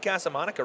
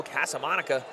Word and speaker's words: Casamonica: I'm going 2-1 Casamonica right now. I am too, man. Casamonica. Did I say it right? Casamonica. Yeah, why are you putting so much emphasis on the Monica?